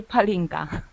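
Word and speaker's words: pálinka: Well, I got the name wrong. What was the name? Palinka or Horinka. Palinka.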